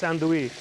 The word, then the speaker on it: andouille: It's actually spelled andouille, but it's andouille.